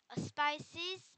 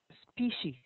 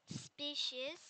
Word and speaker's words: species: the indian ocean is home to 20 250 spices of frogs because of the wet climate okay by the way this is pronounced as species species yes the prime meridian divides the the